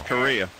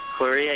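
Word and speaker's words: chorea: so pretty awful illness do they spell it just like Korea no it's ch a long way and it's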